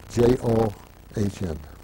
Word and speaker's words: John: He was Get's right hand, Leo Jan, J-O-H-N. In German they pronounce it Jan, in English you would say John.